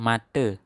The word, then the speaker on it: mata: Ingat kalau A di belakang dibaca E ya. Misalnya ini kace dari kata kaca. Ini mata bacanya mate.